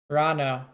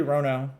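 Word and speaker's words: Ranno: Rano. What you typed would be Rono, I think. There's 2 N's.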